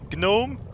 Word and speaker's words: gnome: a G in Gnome it's pronounced gnome Jesus why would I have it that otherwise it's gnome I didn't come here